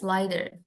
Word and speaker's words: lighter: Kalau di Inggris, GH itu biasanya nggak dibaca, nggak ada bunyinya.